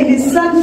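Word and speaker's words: listen: लिसन टू me carefully इससे आप लिसन पढ़ेंगे लिन नहीं पढ़ेंगे लिसन ही इ silent here लिसन टू me carefully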